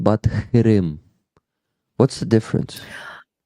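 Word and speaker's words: Qırım: The letter Q has to be pronounced like k, k. Ah, It's like K sound, but like from the back part of your tongue, like close to the throat.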